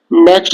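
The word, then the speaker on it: knock: के साइलेंट हो, तो ये वर्ड है नाइफ, नॉक, नाइट, नॉलेज, इन सब में के साइलेंट है क्योंकि के को पढ़ा नहीं जाता है।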